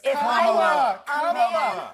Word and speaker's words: Kamala: Let me actually pronounce her name right. Kamala Harris. Kamala.